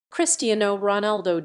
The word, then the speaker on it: Cristiano Ronaldo: Cristiano Ronaldo dos Santos Aveiro, Portuguese pronunciation, Cristiano Ronaldo, born 5 February 1985, is